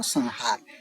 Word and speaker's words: संहार: जैसे संहार है बच्चों। संहार में स के ऊपर अनुसार है। उस अनुसार के बाद ह है। है ना? तो इस प्रकार से जो अनुस्वार है इसका उच्चारण नित्य करना चाहिए।